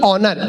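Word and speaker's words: honour: होता है अब यह बोला नेस्ट नहीं ऑनेस्ट होनर नहीं ऑनर इसमें एस साइलेंट आता है अब हम दोनों की बातचीत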